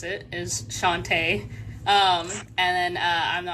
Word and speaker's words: Shante: um I'm Shantae that is how you pronounce it is Shantae um and then I'm the author of living